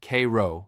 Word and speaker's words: Cairo: Cairo, Illinois, pronounced Cairo by locals, sits at the very southern tip of Illinois, where the Ohio River meets the Mississippi.